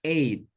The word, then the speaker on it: ate: At. Dibacanya ate. Jadi my dog ate a large bone. Bareng-bareng semuanya. My dog ate a large bone. My dog is a large bone. Very good. Ya. Tidak eta, tidak itet ya.